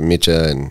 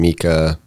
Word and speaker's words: Micha: it's like for me it's like the English um speak pronunciation of it so both versions are correct for me so at this point you're just like you answer to mitcha and Mika yeah it's just part